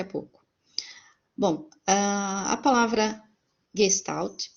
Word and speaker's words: Gestalt: Gestalt né e a uma do certo de pronunciar a palavra é Gestalt tão já já oriento né os próximos para